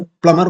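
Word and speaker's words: plumber: बोलते हैं प्लम प्लम पी एल यू एम बी ई आर बी तो sound ही खत्म हो गया प्लमर बोलते हैं जबक प्लमर होना चाहिए ओके सो याद रखना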